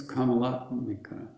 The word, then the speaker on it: Kamalatmika: So she's the last one, and she's the only one that doesn't have the last syllable emphasized. That's weird, but there you have it. Kamalatmika.